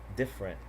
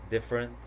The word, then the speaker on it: different: So here we have average, different, separate, comfortable, interesting, vegetable. Okay, do you notice the silent vowel? I'm gonna repeat them again: average, different, separate, comfortable, interesting, vegetable.